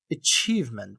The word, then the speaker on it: achievement: is B1 B2 and the pronunciation for UK and US for both uh you know achievement. Achievement the estster is on the second part achievement.